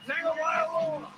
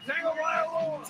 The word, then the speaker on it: Tagovailoa: It's not Vailoa. It's Vailoa. He had a whole other syllable in that bad boy.